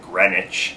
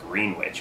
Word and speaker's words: Greenwich: they started all saying Greenwich. Matter of fact, as you drive into the town, you see this, they have this picture of a green witch riding a broom, you know, so you